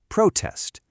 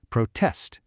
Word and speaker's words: protest: When it's a noun, the stress is on the first syllable, protest. But for the verb, it jumps to the second protest.